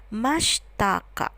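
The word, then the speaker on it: ましたか: Cakka tulisannya Masyita Kak namun seringkali diucapkannya pronounciationnya adalah mastaka sama halnya dengan akhiran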